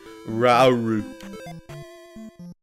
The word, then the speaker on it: Rauru: No, it's pronounced Rauru.